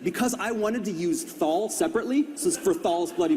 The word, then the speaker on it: Thal: perfect for him because he wanted a names that rhymes through his balls so I thought it's like okay what I want to use balls I want to use balls what rhymes with balls THS and I was like oh can we call can we call the god Thal and he was like